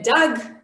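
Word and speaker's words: דג: It has one syllable, dag. This is how you would pronounce it.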